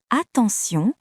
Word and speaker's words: attention: Dans le mot attention, T se prononce S.